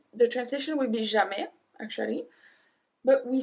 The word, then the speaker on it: jamais: Jamais. Jamais. We don't pronounce the S at the end. Jamais.